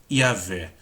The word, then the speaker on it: Yahvé: E muitas provas que os especialistas podem trazer para mostrar que Jeová é uma pronúncia equivocada e que as vogais corretas são A e E, ou seja, deve-se dizer Yahvé.